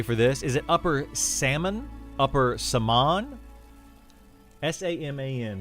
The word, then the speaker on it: Saman: Is it Upper Salmon? Upper Saman? S-A-M-A-N. How would you pronounce that? Salmon? That's what I've been saying.